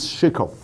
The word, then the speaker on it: Shikov: His name is Shikov. That's how you pronounce him.